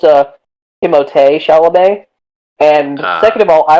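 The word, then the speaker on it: Timothée Chalamet: oh i was uh first of all it's pronounced uh timote chalamet and second of all i was gonna say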